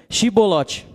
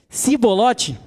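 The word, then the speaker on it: שיבולת: respondessem que não diziam Então diga xibbolote se eles se eles dissessem se bolote sem conseguir pronunciar corretamente a palavra prendiam e matavam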